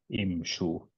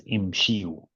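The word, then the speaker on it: امشوا: Imshu. You don't want to say it as imshiu.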